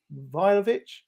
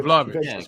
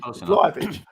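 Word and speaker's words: Vlahović: So I looked at, I can never pronounce his name, Vlahovic. I keep calling the boy Vlahovic. Vlahovic.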